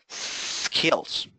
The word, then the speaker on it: skills: Mucho cuidado con la manera en que pronunciamos skills, ¿verdad? No digamos esta palabra, no digamos skills, ¿verdad? Al principio no hay ninguna E. ¿Verdad? Nosotros no decimos skills, no.